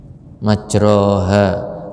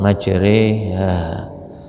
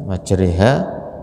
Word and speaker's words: majriha: dengan menyebut nama Allah, majroha, tapi dalam bacanya di tajwid dibaca imalah, majriha ya, wa mursaha, dan menyebut nama Allah ya, majroha ya, majriha bacanya ya, itu dengan perjalanan kapal